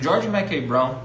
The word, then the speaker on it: George Mackay Brown: O George Mackay Brown, essa é a pronúncia.